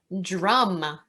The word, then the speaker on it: DRUUMM: religion next we have drum and drum stands for diverse revolutionary uu multicultural ministries it's pronounced just like the instrument drama is a collective